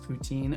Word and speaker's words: poutine: doing some silly text replacement stuff a and poutine and maple syrup and mountains it is pronounced poutine oh don't be surprised when he butchers pronunciations